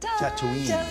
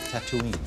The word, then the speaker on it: Tatooine: Corrected on the pronunciation. Tatooine. Tatooine.